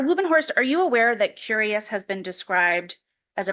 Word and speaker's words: Cureus: And this study, it was published in the journal Curious, which is spelled Cureus, right?